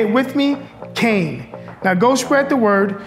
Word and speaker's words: Kean: We can't just up and change it because people mispronounce it. We are Kean University. Say it with me, Kean. Now go spread the word and make sure you say it loud and proud, Kean.